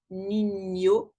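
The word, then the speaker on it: niño: Le N avec une petite crolle, ben, ça se prononce comme IE, Nino. Ça, c'est le NIE.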